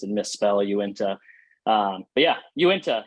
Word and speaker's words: Uinta: uh you can remember it by saying uh you into beer you into beer yeah are you into